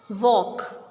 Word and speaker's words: walk: We will not pronounce L in it. Half. Calf. Walk. See, we are not pronouncing L because L is silent.